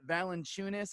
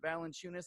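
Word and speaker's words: Valančiūnas: Jones, Dylan Brooks, Jonas Valanciunas, I think is how you say his name. Valanciunas, like you're chewing something.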